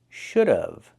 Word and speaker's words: should have: Pronunciation should have. We hear of, should have. The pronunciation use the uh sound like cup and up plus the vv sound like in vegetables.